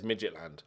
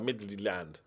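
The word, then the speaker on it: Midtjylland: Because in my brain, all I want to say is Midgetland. And I know it's not Midgetland. It's like Midland, right?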